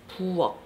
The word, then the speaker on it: 부엌: The 받침 for this word is 키읔, which is pronounced like a K. But since it's a 받침, the word is pronounced as 부엌.